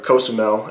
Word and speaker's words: Cozumel: KSML or Kosamel as it's pronounced by locals is has about 100,000 people.